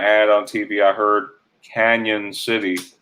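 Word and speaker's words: Cañon City: lot of places it's spelled without the tilde which could be pronounced cannon but they still say canyon city yeah there's a a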